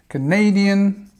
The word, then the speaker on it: Canadian: Canadian again stress in the second, Australian, Australian, Indian stress on the first and Italian.